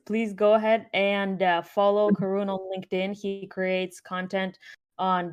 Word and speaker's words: Karun: now after this event and yeah and here's karun LinkedIn let me know if I'm pronouncing your name by the way I should